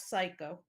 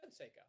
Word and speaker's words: Seiko: no go for it how do you pronounce seiko with a long a not psycho oh i i said seiko oh okay sorry psycho